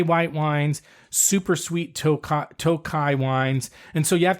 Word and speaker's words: Tokaj: sometimes an additional I at the end it's pronounced toai or sometimes toai ASU which is a sweet